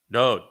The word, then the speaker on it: Dowd: It's both all from the Wa. Torah, Shalom, Yahowah, Dowd. They all share that Wa open mouth vowel O sound in common.